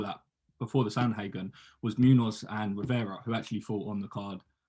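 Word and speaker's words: Munhoz: I'm going to butcher their names, and I know how to say it as well. Munoz?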